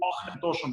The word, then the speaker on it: Auchentoshan: да, правильно произносить, наверное, самое правильное произношение будет Auchentoshan, вот этот звук «ах», вот он как бы немножко сливается, Auchentoshan, но вот, опять же, ОА может пересекаться. Мы в России выбрали произношение Auchentoshan, потому что оно немножко более по-славянски правильно звучит, и у нас на